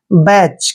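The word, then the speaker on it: batch: और ध्यान रखना है सी एच से पहले जब भी टी आता है तो वहां टी साइलेंट होता है इसलिए हम टी को नहीं पढ़ेंगे और सी एच का उच्चारण च करेंगे बैच क्या पढ़ेंगे इसको बैच बैट नहीं पढ़ना है बैच पढ़ना है और बैच मींस होता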